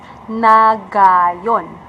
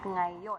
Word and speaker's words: ngayon: So for example, if you're going to read ngayon, you sound nagayon. So it should be pronounced at ngayon.